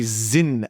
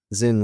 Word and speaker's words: Sinn: Before I discuss, we joke around in Holland cuz you pronounce it in a Dutchy way. Zin as if it's a Zi N.